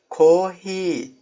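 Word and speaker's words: コーヒー: Ko-hi- kelimesinde Koohii diye uzatacaksınız. Yavaşça koohii demenize gerek yok.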